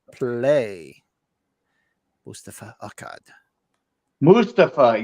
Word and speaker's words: Mustafa: You actually you pronounce it right. I forget to pronounce it right. I know how, but I don't. You know, I actually used to say Mustafa, but I actually worked with a Mustafa, and I just got in the habit of saying that because that's how he pronounced it, was Mustafa. I used to say Moustafa. Mustafa.